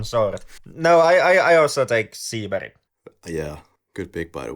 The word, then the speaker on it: Seberg: So I believe the first name should be pronounced in an American way, and then the Swedish surname I'm just going to pronounce in the Swedish way. So Jean Seberg.